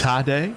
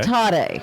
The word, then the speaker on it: Taddei: Taddei? So, Okay. Taddei.